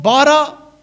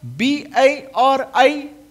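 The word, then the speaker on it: ברא: When you create something, and the Hebrew word for creation, it's called bara, B-A-R-A, bara, and it means to make something from nothing.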